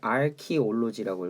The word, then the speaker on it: archaeology: 이거 아키올로지라고 읽으셔야 돼요. 바로 이렇게 써드릴게요. 아키올로지 이렇게 읽으셔야 돼요.